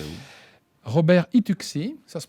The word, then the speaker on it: Itucci: Robert Ituxi, ça se prononce bien comme ça?